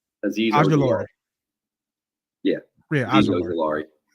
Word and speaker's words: Azeez Ojulari: Azeez Ojulari. I think it's how you pronounce it, right? Azeez Ojulari.